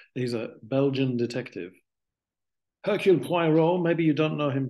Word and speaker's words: Poirot: It's like Piorot. Is that how it's spelled? He's a Belgian detective. Hercule Poirot.